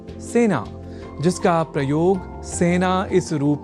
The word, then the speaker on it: सेना: अतः सेना इस शब्द के उच्चारण में ए इस स्वर वर्ण या अक्षर का ही प्रयोग किया जाना चाहिए ना कि ऐ का।